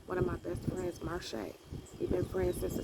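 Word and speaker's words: Marshe: here to celebrate one of my best friends marshay we've been friends since the sixth grade and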